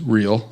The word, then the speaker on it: Reel: chris dykema and sarah real at green ridge reel is pronounced as real all right good deal